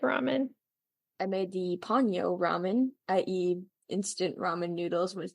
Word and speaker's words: ramen: Ramen.